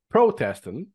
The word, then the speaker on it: Protestant: policies while nearby uh Pro Protestant first syllable Protestant Protestant ah oh you're doing